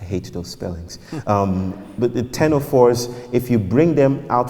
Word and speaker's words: ctenophores: I think another name for them is ctenophores, but it's spelled with a C, a silent C. I hate those spellings. But the ctenophores, if you bring them